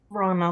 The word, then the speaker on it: Rana: Oh, hi, Rona, or Rana. How do you pronounce your name? I wasn't sure. Rana, like rhymes with Donna. Oh, Rana like Donna.